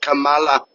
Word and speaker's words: Kamala: say her name and that's how it should be said Kamala and this [ __